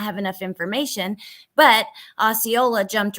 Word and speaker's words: Osceola: I don't know how to say that right, but you're saying it right, Osceola.